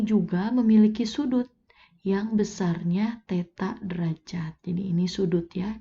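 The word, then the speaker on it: θ: Titik P di sini pada koordinat kutub ditulis P dalam kurung R, ini dibacanya theta.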